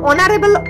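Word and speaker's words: honourable: অ্যান অনারেবল ম্যান, একজন মাননীয় ব্যক্তি। অনারেবল, দেখো এইচ এর উচ্চারণ কিন্তু সেইভাবে প্রকাশ পায়নি, অনুচ্চারিত হয়েছে, কিন্তু ও এর উচ্চারণ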